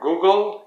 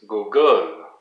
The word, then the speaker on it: Google: For Google, it's Google, Google.